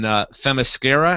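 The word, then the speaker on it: Themyscira: dialogue and basically it showed her training on fasara is that how you pronounce it Brad yes it is H them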